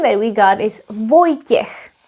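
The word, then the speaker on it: Vojtěch: v o j t s háčkem ch And the name that we got is Voy- tiech. Voy- tiech is a man's name.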